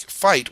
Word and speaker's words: fight: directly to specific sounds like fight we have that I ght well we don't pronounce the G in the H they're actually silent in this case so we don't pronounce it as a --get we pronounce it as ight so we just have